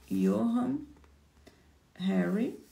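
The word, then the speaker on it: Johann Hari: É do Johan Harry, tá? Se escreve Johan. Vou te mostrar aqui a capa, ó. Yohan Harry.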